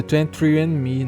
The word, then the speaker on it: 23andMe: Que eu portuguesei aqui o nome, mas é 23andMe, né?